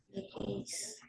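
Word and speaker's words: λέγεις: Legueis.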